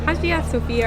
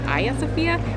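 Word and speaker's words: Hagia Sophia: It's called Hagia Sofia, or I think the proper pronunciation is Hagia Sofia.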